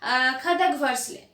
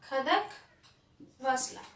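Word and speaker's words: Khadakwasla: Now see, National Defense Academy is in Khadagvarsle. The name is little bit difficult to pronounce. That is Khadagvarsla.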